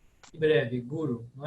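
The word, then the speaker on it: गुरु: Então, as duas vogais são breves e a pronúncia é simplesmente guru, guru. E Guru. ela seria para nós paroxítona, ou seja, aqui no Brasil a gente fala guru, mas no sânscrito o mais correto é guru.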